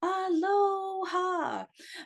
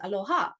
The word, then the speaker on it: Aloha: symbol of Aloha right you've heard people like the tourist you kind of aloha but really the way he pronounced the word is Aloha or Aloha and so when we